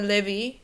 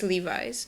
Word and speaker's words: Levi's: Nhưng không phải Levi hay Levi Strauss. Chỉ là Levi's thôi.